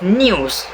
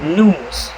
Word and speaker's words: news: In American English, this y sound is dropped. This process is called yod dropping. So, instead of news, it will become news. You can feel the difference when you say it. News and news.